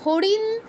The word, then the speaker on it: হরিণ: কোনটা দন্তন্য কোনটা মধ্যন্য কিন্তু এটা যদি সংস্কৃত শব্দ হতো উচ্চারণটা হতো এরকম নাদি হারিণ হিরণ শুনেই বোঝা যাচ্ছে নিশ্চয়ই যে দুইটা আলাদা অক্ষর একটা হচ্ছে একটা হচ্ছে